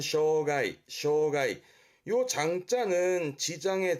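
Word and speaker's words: 障害: 발음은 쇼가이 쇼가이요 장자는 지장의 장 막을 장자라서 말하자면은 하고자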